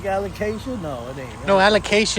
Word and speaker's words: Alocasia: I don't even know how do you pronounce that? Alocasia.